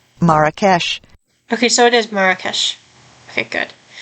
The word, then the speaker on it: Marrakesh: Okay, I'm going to look it up real quick to see how you can pronounce it. Marrakesh. Okay. So, it is Marrakesh.